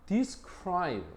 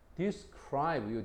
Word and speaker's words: describe: 그다음 describe 요거는 강세가 뒤에 있죠. describe요 뒤쪽에 있지, 그지?